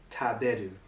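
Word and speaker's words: 食べる: So we'll take this kanji, for example, and it is read taberu.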